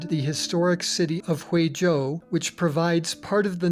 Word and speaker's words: zhou: like the English J so z h o u sounds much like the English name Joe historically Joe meant state